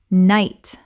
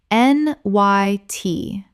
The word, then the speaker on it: knight: queue queue Word 178 knight Common mispronunciation k-night Correct pronunciation n y t The k n makes only an n sound and the g h is completely silent. One syllable only Example The knight in